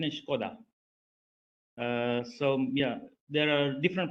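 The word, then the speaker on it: Škoda: So the pronunciation is Skoda.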